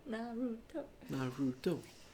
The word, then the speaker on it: Naruto: Naruto.